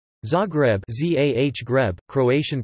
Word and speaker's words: Zagreb: Zagreb, Z-A-H Greb, Croatian pronunciation, Z-Reb, listen, is the capital and the largest city of Croatia.